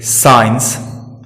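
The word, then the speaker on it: science: अब बात सी की करें तो सी जब एस के तुरंत बाद आता है तो सी साइलेंट रहता है, जैसे साइंस, सीन।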